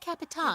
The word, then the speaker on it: Capitan: The word Capitan. It's the Portuguese pronunciation of the word captain, but rather than translating